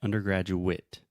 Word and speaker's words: undergraduate: And another pronunciation tip, Alexia said undergraduate, mas quase todas as palavras que terminam com A, T, E, a pronúncia vai ser it. Então é undergraduate. Undergraduate. You're saying undergraduate, A, but it's it. Undergraduate. So just like the word it.